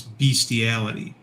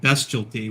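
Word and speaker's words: bestiality: had was bestty uh which most people will pronounce beastiality but if you if you didn't if you didn't pronounce it bestty which is its actual pronunciation then then you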